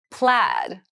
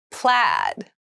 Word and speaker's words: plaid: letters by air mail plaid plaid plaid so plaid has a very interesting spelling there's an AI in there but it's pronounced plaid so plaid is a